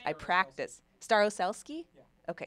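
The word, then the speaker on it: Starosielski: I really hope I'm pronouncing her name right. I practice. Staroselsky? Yeah. Okay, Staroselsky.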